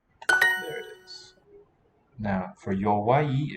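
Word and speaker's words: 弱い: Now, for yowai, it's three symbols, three characters, written marks. Sounds like two syllables, but it's yo, then wa, then i. Wa-i, yowai, a sequence of vowels there.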